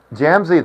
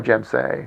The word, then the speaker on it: Jam: I said jam. It's more gem, right?